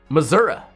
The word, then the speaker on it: Missouri: really funny to me Missoura right I can pronounce it like a local right like the locals that like living there Missoura it's Misery come on I've never actually been to uh Missouri so yeah I don't